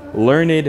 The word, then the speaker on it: learned: 특히 man 앞에 보면 대부분 learned이라고 발음을 하셔야 돼요. He is a learned man. 우리 그렇게 안 합니다. 앞에 learned 이렇게 첩하게 되면은 99% learned man learned 보통 사람을